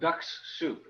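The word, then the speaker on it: Dux-Soup: think of what a tool called ducks soup and it's spelled d-u-x okay not familiar with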